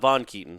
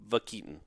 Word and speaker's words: Vakeaton: It's not Von Keaton. It's Vakeaton.